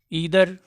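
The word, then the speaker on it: either: ईदर द फादर, ठीक है, ईदर इसको कह सकते हैं या आइदर भी कह सकते हैं, ठीक है। यूएस इंग्लिश में और यूके इंग्लिश में इसका प्रोनाउंसिएशन अलग अलग होता है, ठीक है। यूके में हम इसको आइदर बोलते हैं, यूएस में ईदर कहा जाता है, ठीक है।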